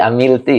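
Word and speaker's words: عَمِلْتِ: Amilta apa amilti ya? Berarti amilti ya, karena jiwa ya.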